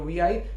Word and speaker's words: Vi: company rebranded itself into VI, it's actually not VI, it's V. It's pronounced as V.